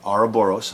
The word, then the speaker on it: Ouroboros: about and hopefully I see the title right ara Boros off left said it right sorry I didn't